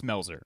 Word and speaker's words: Melzer: Today, we have Andrew Melzer, otherwise known as Melzer. Is it Meltzer or Melzer? It's Melzer.